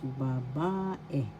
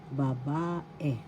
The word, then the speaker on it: babae: ba third syllable e the second syllable ba has the accent so you pronounce this as babae babae that's girl in English